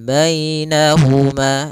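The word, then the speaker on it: بينهما: kemudian bahuma barzak Pal bainahuma di sini ada Ya Sukun didahului dengan fathah ini bacaan Lin lagi lembut dalam pelafalannya Kemudian pada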